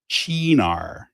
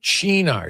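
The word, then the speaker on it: Cynar: So, this is this is Chenar. It's how you pronounce it. Chenar.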